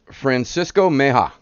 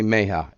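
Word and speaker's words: Francisco Mejía: Francisco Meja. I believe I'm pronouncing that correctly. Francisco Meja. I know the J sounds like an H.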